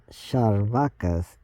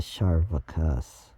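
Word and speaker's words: Chārvāka: And if I'm gonna take a guess that C is pronounced like cha, so it's Charvakas, or it might be pronounced Sarvakas, and not Karvakas.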